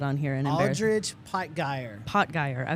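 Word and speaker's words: Aldrich Potgieter: Aldridge Potgeier. Okay, I want to throw in that last T, but there he is there.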